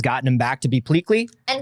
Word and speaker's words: Pleakley: He's Pleakley.